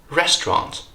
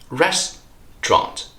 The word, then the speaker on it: restaurant: word is restaurant restaurant yes only two syllables here Resturant Resturant it's absolutely fine for you to say restaurant of course but all I'm saying here is that those native speakers tend to be very lazy sometimes and that's why they tend to drop syllables here they shorten this word into two syllables restaurant last but not